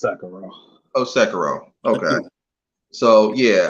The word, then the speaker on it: Sekiro: And yeah, as far as Sekiro, I keep saying Sekiro, but I hear people like pronounce it that way. What is it, Sekiro or Sekiro? It's Sekiro.